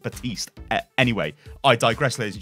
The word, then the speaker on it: Baptiste: wild lights caught now I'll just go probably Baptiste I'll say a lot because I'm an idiot and I'm from England but I'm pretty sure it's supposed to be pronounced but East anyway I digress ladies